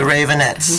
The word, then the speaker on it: Raveonettes: How is the real pronunciation of your name? Please tell our listeners to. The Ravonettes.